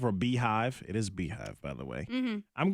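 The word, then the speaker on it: BeyHive: I was thinking, how do you pronounce Bayhive or Beehive? It is Beehive, by the way.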